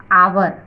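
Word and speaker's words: hour: क्या है, ए, तो आवर, ये एच था, लेकिन इसमें हमारा साउंड क्या हो रहा है, एच है जो इसमें साइलेंट है, यहां से इसका हो रहा है तो आवर, आ है ना, आवर।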